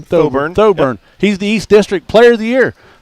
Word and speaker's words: Thoburn: Thoburn.